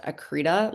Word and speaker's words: accreta: Um one of our survivors likes to say it's pronounced accreta like cheetah.